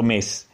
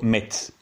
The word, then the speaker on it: Metz: sarebbe la città di metz che in in francese viene pronunciato messi ma in tedesco in in lorenese anche viene pronunciato mex un esercito guidato dallo